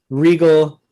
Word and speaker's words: Riegel: our live show and then we came up with regal a little uh a